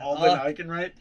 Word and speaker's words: Alden Ehrenreich: But I just really don't like Alden Ehrenreich. Is that how you say his name? Yeah. Alden Ehrenreich.